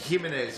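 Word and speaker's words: Jiménez: that's uh waim jimz I think you pronounce it waim gimenez in or gimenez gimz gimenez yeah J's pronounced like a h in in Spanish terms uh sopan I've learned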